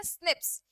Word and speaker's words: SNP: SNP को हम लोग कहते हैं एक्चुअल में, इट is called as single nucleotide polymorphism, जो इसको हम लोग प्रोनाउंस करते हैं स्निप्स।